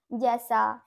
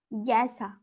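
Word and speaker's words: जैसा: যেমন মে হ্যাঁ ক্যাসা জ্যাসা, জ্যাসাটাও হয়, যেমন কি বর্গের জয় ঐকার দন্তস্বয় আকার, তাহলে কি হবে এটা জ্যাসা, বর্গের জয় জাফলা আকার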